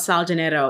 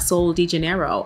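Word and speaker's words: Sol de Janeiro: we've been talking about sal genetto and that is how you say it it's not soul de janeiro i used to be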